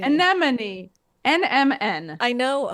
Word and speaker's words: anemone: Anemone. Anemone. NMN. I know how it's spelled. I just can't say it. No, but I mean, just try to remember that it's like Anemone. it's Anemone. alternating consonants. NMN.